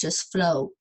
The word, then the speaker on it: flow: what flow left it's just flow so the W is silent so even though it